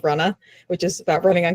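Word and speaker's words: Runnah: new podcast recently called Runna, which is about running on Cape Cod in Massachusetts, spelled Ru Nh, because that's how you pronounce it in Massachusetts.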